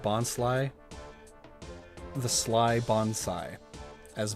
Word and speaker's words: Bonsly: I love that in the 4Kids dub they pronounced Bonsly the Sly Bonsai as Bonslee.